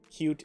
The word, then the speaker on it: Qt: built build it and cute which despite that name sounding really good cute is spelled QT just the letters QT next to each other typically with capital Q lowercase t it is a dumb